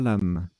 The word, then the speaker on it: xalam: anglo saxons blanc et protestants alors j'ai dit xalam mais en fait ça se prononcera l'âme mes excuses à l'âme x à elle à